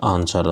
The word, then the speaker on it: answer: Next question is which is the silent letter in the word आंसर। आंसर शब्द में जो मूक बधिर वर्ड है या जो साइलेंट लेटर है वो क्या है। तो W क्या है, एक साइलेंट लेटर है आंसर में।